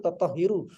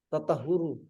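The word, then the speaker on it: تَطَهُّر: Lakin akan tetapi la yasihu tathiru tidak sah oleh bersuci tathiru Cara bacanya belum. tathiru la yasihu tathiru Bukan. tahiru tatahharu Tatahur, tafa'ul. tatahuru Hmm.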